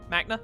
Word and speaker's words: Makna: progress at machina forest makna housing pronounced magna I think it's magna I want to make